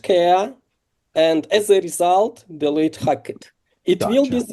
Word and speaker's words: Deloitte: So this is example how big technical companies, enterprises, this level like Deloitte, Yeah. maybe I'm not pronouncing, you can No, correct. it's correct. Yeah, Delight. Yeah. Like you're Deloitte. saying it right.